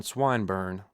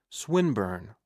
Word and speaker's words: Swinburne: swatted meant this man swineburn he began attempting to put his plan into execution and pronouncing the i long who swineburn he repeated with the same mispronunciation the poet swinburne she corrected yes that's the chap